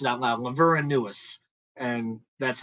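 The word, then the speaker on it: Laveranues: at this time but no it is not lavernius Kohl's uh by the way I'll take care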